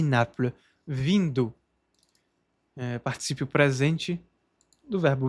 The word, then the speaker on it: Naples: E Naples. Não se pronuncia esse S de Nápoles.